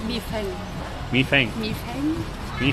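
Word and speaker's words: 米饭: I think rice, if you want to say rice, it's mi feng.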